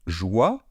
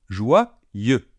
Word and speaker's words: joyeux: Joie, comme la joie, mais on rajoute après « ye ». Donc, joyeux. Je répète, joyeux.